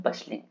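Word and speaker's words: bustling: बसलिंग, तो बसलिंग में हमारा टी हमारा साइलेंट है, इसलिए हम इसको बोलते हैं बसलिंग।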